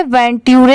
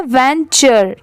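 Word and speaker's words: venture: मारा decided to वेंचर इसे वेंटू नहीं पढ़ेंगे इसकी साउंड क्या है वेंचर ठीक है टी की साउंड ट की नहीं आ रही है च की यहां पर आ रही है इसलिए इसे क्या प्रोनाउंस करेंगे वेंचर इन टू the forest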